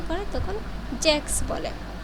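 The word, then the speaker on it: sechs: এখানে এই সংখ্যার সে হা এস এর উচ্চারণটা আপনারা ক স শুনতে পাবেন। জার্মানিরা যখন উচ্চারণ করে তখন জ্যাক্স বলে।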